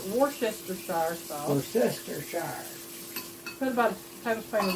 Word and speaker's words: Worcestershire: And I know, I don't ever pronounce it right, it's Worcestershire sauce. Worcestershire.